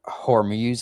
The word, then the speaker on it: Hormuz: Of course, the I don't even know how to say it, the Strait of Hormuz, I believe is how you say it, um has been closed causing the oil spike, of course.